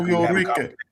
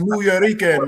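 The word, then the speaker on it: Nuyorican: Norica. It's New York. It's pronounced New Yorican, my friend.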